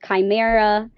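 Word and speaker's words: Khimara: And then the other one is on my podcast, which is called Chimera, but it's spelled k h i m a r a which is the Greek spelling.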